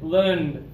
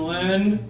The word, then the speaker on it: lend: teeth together l l you guys feel the difference between lend and land yeah masar you're doing